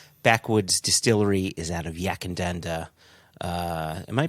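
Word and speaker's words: Yackandandah: the full context backwoods distillery is out of yakindanda uh am i pronouncing that right jason and danda you got yak and dander right you got the distillery name wrong is it backwards yeah and then you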